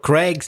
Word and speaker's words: Craig: I get everything but it's Craig with an a sound so those words climb